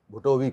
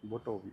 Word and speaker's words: भुटोवी: सबसे पहले तो जो इस फिल्म मैंने कैरेक्टर किया वो अब्दुल भुटोवी का है। भुटोवी। अब इसका उच्चारण कई लोग घुट भी कर रहे हैं, भुटो भी कर रहे हैं।